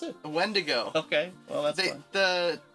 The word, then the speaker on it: wendigo: mythological oh thing oh yeah how do you pronounce it wendigo okay well that's it the yeah yeah there's